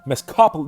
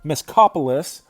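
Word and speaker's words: Mezcopolis: Mescopolis, no, it's on the C-O. Mescopolis.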